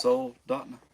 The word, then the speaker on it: Soldotna: 10 or 12 miles south of Soldotna. Yeah. Soldotna. Yeah. Soldotna.